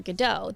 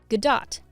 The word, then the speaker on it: Gadot: It isn't the same as Waiting for Gadot, the play by Samuel Beckett, or any other variation of that. Her name is Gal, rhymes with pal, Gadot, heavy on the T, and sounds like lot.